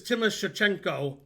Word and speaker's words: Timoshchenko: This is Timoshchenko, which has like an extra syllable.